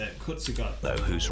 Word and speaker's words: Kurzgesagt: So that's how you say it, Kurzgesagt.